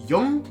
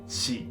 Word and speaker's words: 四: Số 4 được phát âm là "yon" và "shi".